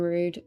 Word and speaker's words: Rude: Hero, Gear, and Rude, pronounced Rude.